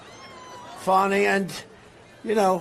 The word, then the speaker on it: Fani: cases like funny funny it's spelled Fanny it spelled Fanny like your ass right Fanny but when she became da she decided to add a little French little fancy fny fonny and you know fonny